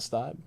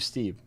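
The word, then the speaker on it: Stieb: If they have like a different pronunciation, or Dave Steeb, not Stibe.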